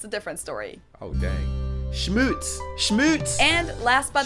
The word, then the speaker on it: Schmutz: Schmutz.